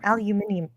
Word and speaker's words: aluminium: Regular lens coatings are usually aluminum or aluminium. Aluminium. I know that in other countries say aluminium, or a mixture of metals depending on the manufacturer. I'm more used to saying aluminum.